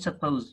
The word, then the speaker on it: suppose: The next one is the vowel, the schwa is missed out in the word is said with one syllable. Suppose, suppose, suppose, not suppose, not suppose.